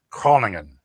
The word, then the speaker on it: Groningen: on that festival to tell me how to pronounce it right. It's Groningen.